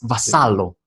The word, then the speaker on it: Vassallo: So today I have Daniel Vassallo with me. Hopefully I pronounced it well because in It's Spanish it's good. Vassallo. In your country, Malta, it's Vassallo. Is that the correct pronunciation?